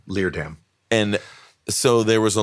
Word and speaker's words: Leerdam: Leerdam. It's not hard. It's a 2-syllable last name. Leerdam.